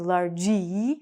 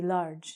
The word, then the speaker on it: large: We don't say in English largy, we say large.